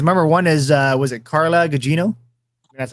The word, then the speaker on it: Carla Gugino: not one kiss member one is was it carla Gugino that's how you pronounce her name and then okay so in